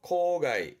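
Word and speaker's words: 公害: 코가이, 코가이. 이거는 손자입니다. 손해군요. 송가이, 송가이. 이자죠. 이해입니다. 그래서 발음이 리가이.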